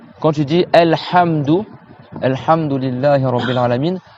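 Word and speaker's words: الحمد: Quand tu dis Alhamdu, Alhamdulillahi Rabbil Alamin, tu dois resserrer le milieu de ta gorge ici.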